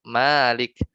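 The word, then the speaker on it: مالك: kan mim laf Kaf Tapi bacanya kita kan panjang Malik Malik gitu kan karena enggak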